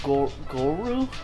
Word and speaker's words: Goru: I'm talking with Goru? How do you say that name? Gorau?